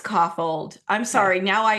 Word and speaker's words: Kaufhold: Okay, so Um, yeah, so So Brady So Ellison and Casey Kaufhold, who Kaufhold is the correct pronunciation, right? it's Coffold.